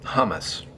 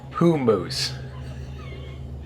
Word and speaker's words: hummus: Most people call this stuff hummus, but the correct pronunciation is hummus.